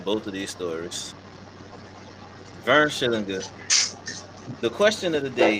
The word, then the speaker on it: Schillinger: Oh no, I was gonna say widely pronounced or widely considered Vern Schillinger. Mm-hmm. But it's Schillinger, cocksuckers.